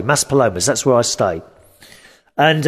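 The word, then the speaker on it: Maspalomas: stayed in place called massa palomas i think that's how you say it palomas mas palomas sorry mas palomas that's where i stay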